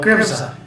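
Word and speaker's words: Grimsargh: This is a word that I grew up around and I pronounced this wrong for most of my life until a couple of years ago. Grimza. Grimza, yes. Is it? Yeah, that's how you pronounce Grimza.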